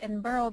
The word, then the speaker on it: Edinburgh: you know just to point out it's it's pronounced Edinburough because it comes from Edinburough Scotland so um